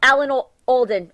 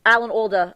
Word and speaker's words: Alan Alda: up nepal right um oh my god um alan alden alan alda i always say his name wrong with the guy from nash amazing amazing